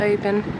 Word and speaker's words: Oban: I just wanted to give it some love if you're coming to Oban. And yes, I'm now going to correctly pronounce it.